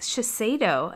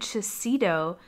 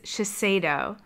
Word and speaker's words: Shiseido: what was going on with my brain it's pronounced Shiseido and I said to cedo the entire video I am so sorry do not listen to that and think that's how you pronounce it this brand is Shiseido sure so this is a Shiseido makeup bag